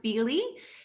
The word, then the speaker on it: Fyli: little bit of context we pronounce it feely feely nyc feely stands